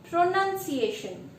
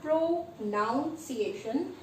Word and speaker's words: pronunciation: Pronunciation. It's not pronunciation, it's not pronunciation, it is pronunciation. There is no O required.